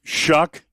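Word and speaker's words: Shough: He says everybody mispronounces my my name, but he says it's really Tyler Shuck, spelled S H O U G H. They pronounce that Shuck.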